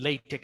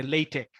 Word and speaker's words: LaTeX: that I mean yeah we pronounce and latex yeah we say latex not latex latex and we have